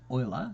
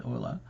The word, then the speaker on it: Euler: spelled ruler with an E Euler but it's Euler its pronunciation is Euler what he did he said I wonder if